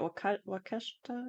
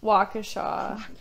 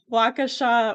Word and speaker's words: Waukesha: So, what I found, like sometime in 2013, how do you say it? Wakeshta? Kesha? Waukesha. Okay, totally wrong. Waukesha, Wisconsin.